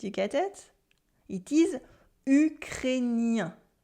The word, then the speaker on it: ukrainien: It is ukrainien. Ukrainien. Ukrainien. There's a vowel after the A-I-N, so it becomes N.